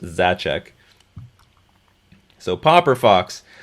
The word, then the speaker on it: Zaczek: uh it's PR it's my last name is zachek Zed a z eek is pronounced zachek so popper Fox how